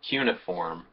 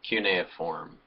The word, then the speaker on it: cuneiform: burn agriculture civilization and cuneiform or cuneiform it can be pronounced a couple of different ways so those four